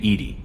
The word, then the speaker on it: EDI: airlock is a jar why are you named Ed Ed is the phonetic pronunciation of Ed that is an acronym for